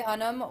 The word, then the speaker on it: Hunnam: Charlie Hunam. Hunam. Hunam. Charlie Hunnam was fantastic.